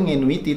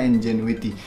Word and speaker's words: NGENUITY: ya yaitu Enjoy with awalnya gue pengen bacanya tuh minuite tapi kayaknya nggak mungkin kan masalah press bikin software namanya ngenuity gitu yang baca entukan Sri Indonesia doang jadi harusnya dibacanya Enjoy with yang bisa kalian download